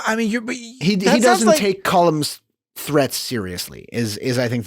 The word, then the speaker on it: Colm: Colm, that's how they say it. They enunciate between the L and the M.